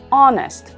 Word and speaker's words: honest: una vocal award o en la expresión en honestamente la h no se pronuncia y seguimos con la vocal o honest por lo tanto en